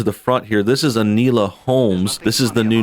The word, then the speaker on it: Enola: This is Enola Holmes. This is the new Enola. He's not even pronouncing it right. Like, How's he pronouncing it? Anila.